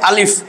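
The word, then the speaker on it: ألف: জন্য যেমন এটা শুধু আলিফ পরিষ্কার করে বলতে হয় এটারে আলিফ আলিফ আলিফ একটু ফাঁক থাকবে আলিফ এরকম না কিন্তু আলিফ আলিফ আলিফ আলিফ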